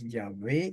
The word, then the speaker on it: Yahvé: El nombre del Padre es Yahvé o Yahweh. Solamente esa pequeña diferencia entre pronunciar la wow como U o como V, ambas, de ambas maneras se puede hacer.